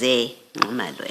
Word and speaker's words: Zingumalo: So the correct pronunciation is Zingumalo, as is written here.